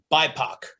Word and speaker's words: BIPOC: BIPOC stands for Black, Indigenous People of Color, pronounced BIPOC.